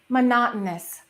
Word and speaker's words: monotonous: Number one, monotonous. Monotonous. Did you hear? It's monotonous. In American English, it is monotonous.